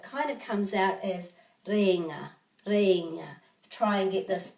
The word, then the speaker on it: Rēinga: and also cape and this has got a macron over the e according to my pronunciation books you could say cape lenga cape ringer but it kind of comes out as reena try and get this